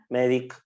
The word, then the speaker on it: Medicaid: No sé si lo han, Medicaid se pronuncia, es Medicaid, todo junto.